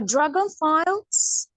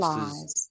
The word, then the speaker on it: dragonflies: know that the meaning of course but maybe pronunci ation which was a dragon files. Dragon files. Yes. So you're almost there. So it's actually pronounced dragon flies.